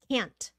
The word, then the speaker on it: can't: thank you Mr s can't can't remember for and then in conversation you stop the tea I can't do that I can't do that